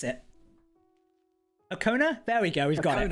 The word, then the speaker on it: Okona: Right, TJ's trying to tell me to pronounce it. Okona?